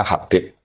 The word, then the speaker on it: Habib: Itu di harakatnya kitab itu ada yang nulis khubb. Lalu yang benar. Oh nggih. Yang benar itu bacanya Habib.